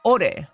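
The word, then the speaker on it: 我: You write his first-person pronoun as ware, but pronounce it ore.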